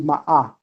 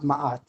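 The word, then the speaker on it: Maat: But the original way to pronounce Ma'at is actually Ma'ah. It's not Ma'at. The older you go into the Kemetic paradigm and thought, the more you'll see different things. What you're calling Ma'at today is a much later pronunciation. In its earliest period, it was called Ma'ah.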